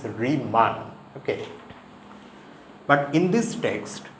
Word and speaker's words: Riemann: and one more thing the pronunciation pronunciation here is not reman it's reman okay but in this